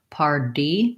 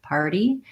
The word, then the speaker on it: party: So the only thing I would say is if I'm saying something like party and I use too much air pressure, party, party, party, you can hear it'll sound a little strange. So trying to think of that D as being a little bit light, party, is helpful.